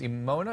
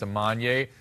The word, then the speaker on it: Amanya: I mispronounced that, it's Amanya.